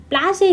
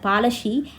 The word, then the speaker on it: Palashi: Plassey is an Anglish pronunciation of Palashi, and the place derived